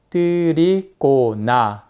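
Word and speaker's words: Trikonasana: 이렇게 흙이 되어 있습니다 제가 굳이 한국어로 엇비슷하게 본래 발음대로 적어보자면 뜰이 고나 그리고 제가 입으로 밑에 점도 찍고 위에 작대기도 그었어요 왜냐하면 한국어는 자음과 모음을 붙여서 표기를 하잖아요 그리고 사나 이렇게 적는게 좀 더 근접한 발음입니다 이것 외에도 많이 잘못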